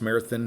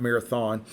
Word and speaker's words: Marathon: glass mountains near marathon texas and yes it's pronounced marathon not marathon and i just love the subtleties the gray